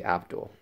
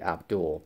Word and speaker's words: Abdul: The pronunciation of her last name depends on where you're from. In the UK, you would say Abdul, but in the US, it would be Abdul, Paula Abdul.